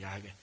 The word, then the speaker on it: 야훼: 단지 우리가 히브리어로 읽을 때 여호와, 아니 더 정확히 말하면 학자들의 말하면 발음은 여호와가 아니고 야훼입니다. 야훼. 이 발음이 더 가깝다고 합니다.